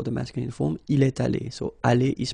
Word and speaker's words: allés: Nous sommes allés. You don't pronounce it. Okay, but you write it. Nous sommes allés.